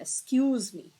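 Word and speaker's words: excuse: लेकिन जब इसकी प्रोनाउंसिएशन करते हैं राइटिंग में तो एक्स हो गया, लेकिन प्रोनाउंसिएशन में क्या होता है, एस का साउंड देता है, एक्सक्यूज मी। किसका साउंड देता है, एस का, एक्सक्यूज मी।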